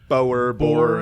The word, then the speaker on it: Boer: like a little bit, and he was a Boer, I think is how you say it. Boer, yeah. Boer. Oh, okay. Because the way you pronounced it, I was assuming either he was